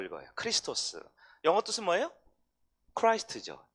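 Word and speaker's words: Χριστός: 두 번째 X는 X가 아니라 크 발음이에요. 크. 그래서 크리스토스라고 읽어요. 크리스토스.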